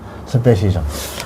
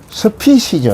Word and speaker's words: species: 이거 발음도 잘 알아야 됩니다, 여러분들. 스피시즈 이래요. P-E 발음 나오네. I 발음 나오네. 이게 스피 액션되어 있는데 스피시저 이래요. 우리가 방금 내가 스페시저 이랬는데 그러면 안 돼요. 틀린 발음입니다.